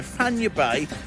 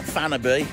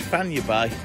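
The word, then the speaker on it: Fañabé: If you're ever down this way, now Fanya Bay is not Fanaby, as a lot of people say, as we pronounce it in English. It's Fanya Bay, and this is the what we call an Argentinian type barbecue.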